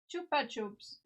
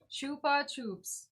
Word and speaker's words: Chupa Chups: So, we're supposed to stress the second syllable like the P and the P. Okay, I see.